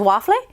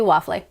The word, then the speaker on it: waffle: actually did not know i always joked in spanish that it was waffle and it turns out it's actually waffley sometimes you are joking